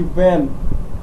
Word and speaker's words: wan: कि वैन, वो क्या हुई पड़ी थी? वैसे इसका सही उच्चारण वैन नहीं होकर क्या होता है? वॉन होता है, WAN, इसको हम क्या बोलते हैं?